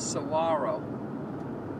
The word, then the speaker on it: Saguaro: them cactuses they're called Saguaro s-s-a-g-u-a-r-o the GU sounds like a w so so yeah I